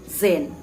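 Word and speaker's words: Tzain: same octa scene or whatever it is it's Zen okay I'm having quite a name problem with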